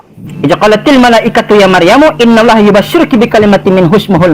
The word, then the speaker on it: Maryam: Isa pakainya Maryam, bukan Miriam.